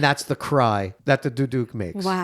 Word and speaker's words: duduk: You were educating me on some of these and you were telling me so that pronounce the ch duduk.